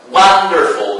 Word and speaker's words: wonderful: So, the first one, wonderful. This is an adjective, of course, and it ends with the suffix "ful." So, the general rule about the general rule of the stress in three-syllable adjectives is that the stress falls at the first syllable.